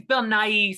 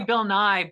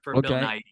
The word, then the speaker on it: Nighy: Yeah, I think it's Bill Nighy. Some people say Bill Nye, but that's like Bill Nye the Science Guy. So I always like to add the E for Bill Nighy.